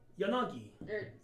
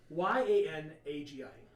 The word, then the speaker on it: Yanagi: How do you pronounce her name? Yanagi. Sorry. Spell her name. Yeah. Sorry. Y-A-N-A-G-I.